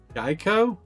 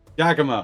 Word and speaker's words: Giacomo: I was like, Gaikomo? Giacomo.